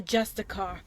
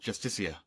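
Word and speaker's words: Justiciar: trust this ass clown he's a justicar a thalmor it's pronounced justicia rigmore even bar and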